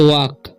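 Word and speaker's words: walk: पढ़ना है रन, इसे वॉक, ठीक है। एल साइलेंट है, ठीक है, वॉक नहीं पढ़ना है, इसे वॉक पढ़ना है, वॉक नहीं।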